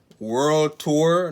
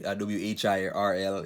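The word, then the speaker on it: Whirl Tour: World Tour. No, it's not world. It's spelled world like but it's like WHIRL. It's just kind of weird, but it's like a skateboard game.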